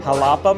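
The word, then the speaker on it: Xalapa: Halapa, Mexico, which is X A L A P A Mexico.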